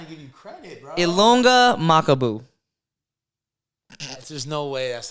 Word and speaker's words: Ilunga Makabu: Ilunga Makabu.